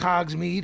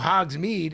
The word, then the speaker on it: Hogsmeade: Well, fucking Pablo looked it up and it said pronounced mead or made, and then I've never seen it, but I'm like, well, Hogsmeade in a British accent will be Hogsmeade.